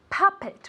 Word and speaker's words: puppet: this very good puppet puppet with an accent in the first syllable okay puppet as if it were really with an a repeat very good now